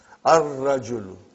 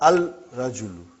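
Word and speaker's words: الرجل: Ar-rajulu. The man. Not al-rajulu. It will be wrong to say al-rajulu. It will be ar-rajulu. We won't pronounce lam. Why? Because it is a sun letter.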